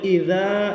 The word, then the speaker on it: إذا: এটি হলো জাল পাতলা হবে, ইদা এরকম পাতলা করে পড়বেন।